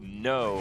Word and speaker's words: Kno: yeah um but uh no as in like I will fight with honor the n o like the no of knowledge kind of how we